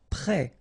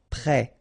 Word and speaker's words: prêt: Prêt. Final T not pronounced. E accent circonflexe like that phonetically gives you the E sound. Prêt.